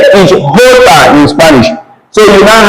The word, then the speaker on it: jota: J in Spanish is not pronounced as J, it's pronounced as H. Okay? Am I putting here? It's pronounced as H. And if we call it's pronounced as Jota. Jota, J is Jota in Spanish.